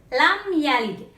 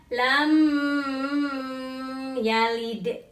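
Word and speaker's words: لَمْ يَلِدْ: huruf hijaiyah yaitu ia maka dibacanya tidak berdengung dibacanya langsung lam yalid tidak lam yalid yang kedua contohnya al-hamdu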